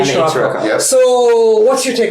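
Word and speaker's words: Sirocco: Scirocco. Scirocco. Yes, the name of a wind in Morocco.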